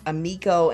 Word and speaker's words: Amikco: My name is spelled Amikco. A lot of people pose the two, but it's Amikco, and last name is. Okay. So Amikco, and then that is Facebook, and then the Instagram.